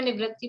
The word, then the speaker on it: निवृत्ति: हाँ इसमें सूत्र में निवर्ती है, मैं और देख लूंगी, यद्यपि मैंने देखा था तो वो निवृत्ति ही, इसलिए मैं निवृत्ति प्रोनाउंस कर रही हूँ, फिर भी और देख लेंगे।